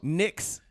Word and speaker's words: Knicks: Knicks. Knicks. Why is K Knickerbockers? and Knicks? I don't K, know. yeah, that's so. We got a why is dumbass it language. K is silent.